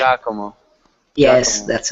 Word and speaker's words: Giacomo: actually Giacomo, the pronunciation. Giacomo.